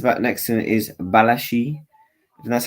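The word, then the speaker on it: Badiashile: obviously the center back next to him is balashi and that's how you pronounce his name um he looks very good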